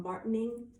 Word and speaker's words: Martigny: This is called Martining, and that's spelled Martigny.